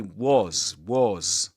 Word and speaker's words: was: This is pronounced with a schwa too. Because this is the weak form of the verb to be in the simple pasts. This is in its strong form. We say was like this. But in this case, as this is not accented, the word is not accented here, we pronounce it with a schwa sound.